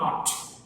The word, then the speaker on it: knot: जो नॉर्थ में Pamir नॉट, KNOT, ये NOT वाला नॉट नहीं है, KNOT जहाँ पे के साइलेंट है, ठीक है, उसका ये एक पार्ट हिमालय माउंटेन रेंज, ठीक है।